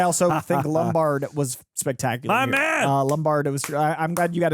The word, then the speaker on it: Lombard: We interviewed him and it was so funny cuz like we were pronouncing Lumbard and I was like I think it's Lombard like we were we